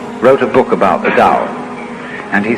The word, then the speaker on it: Tao: for the Dow t-a-o pronounced Dao in the Mandarin dialect Tau in The Chiang